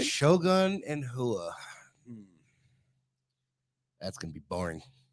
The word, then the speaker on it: Rua: And Shogun Hua. Oh, okay. No, I thought it was Rua. I'm wrong.